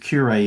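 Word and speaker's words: Q-Ray: So Clint Q Ray is Cure with an accent on the E, but his pen name was Q Ray, so a Q dash Ray.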